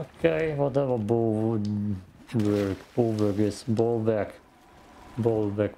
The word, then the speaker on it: Bollwerk: Bollwerk would be the German pronunciation, maybe also the English one.